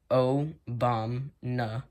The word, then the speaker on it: Obamna: So, in the year 2019, in the midst of the pandemic, Valland was a part of a micronation called Obamna Prism Land, pronounced O-Bom-Na Prism Land, that has since been eradicated.